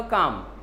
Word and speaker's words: calm: Actually L को जैसे पाम पढ़ते हैं वैसे एल को यहाँ पर साइलेंट पढ़ते हैं। वर्ड क्या लिखा? काम। एल को साइलेंट पढ़ा जाएगा।